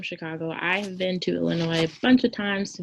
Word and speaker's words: Illinois: Illinois, Springfield, Illinois. The S is silent.